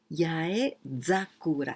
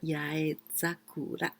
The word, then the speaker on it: Yozakura: Yozakura. Here I pronounce za, not sa, because it's easier after Yozakura.